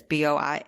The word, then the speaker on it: Boisvert: Hartford Police Lieutenant Aaron Boisvert, I always try to think it's like a French pronunciation, but it's Boisvert, said that the boy,